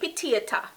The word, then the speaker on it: Pitiata: Number 7 on the list is going to be Pitiata. Jamaicans say Pitiata. Pitiata. Sweet Pitiata. Irish Pitiata. But the proper pronunciation of the word is potato. The English word potato.